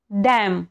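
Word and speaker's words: damn: एम एन इथे एम एन आहे सोबत तसंच डॅम डी एम एन डॅम या दोन्ही ठिकाणी बघा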